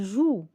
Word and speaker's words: joue: Exemple, elle joue. E, je ne la prononce pas.